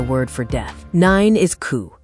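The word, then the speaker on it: 九: Nine is ku, sounding exactly like suffering.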